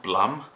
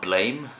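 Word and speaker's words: Blame!: so excited for reading this apparently it's actually pronounced Blum not blame which really really really disoriented me because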